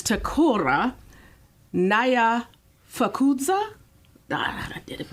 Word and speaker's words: Nyamfukudza: Oh, so it's like one syllable. That first part is... It's like, say it one more time. Nyamfukudza. Nyamfukudza. There you go. Easier than you thought. Nyamfukudza. There you go. The key is watching the lips and how their mouth forms around the like words. Nam. I thought of like Vietnam, like the pronunciation.